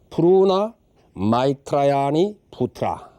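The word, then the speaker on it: Pūrṇa Maitrāyaṇīputra: 이 국사에게 아들이 하나 있었으니 이름은 부르나 미다라이자, 인도식으로 발음하자면은 부르나 마이트라야니 부트라, 이렇게 이제 되는 이름입니다.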